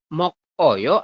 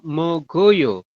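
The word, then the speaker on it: 먹어요: Ini pakainya oyo ya Nah ini teman-teman bacanya Seperti apa kira-kira mok Oyo atau mogoyo jawabannya adalah mogoyo mogoyo Iya betul mogoyo seperti ini apa yang berubah yaun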